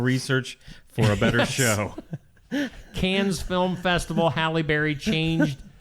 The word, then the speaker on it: Cannes: Cannes. I've just heard it on TV. They say Cannes.